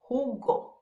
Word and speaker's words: jugo: The J sounds like the H in English. Ha, he, he, ho, hu, jugo, which means juice.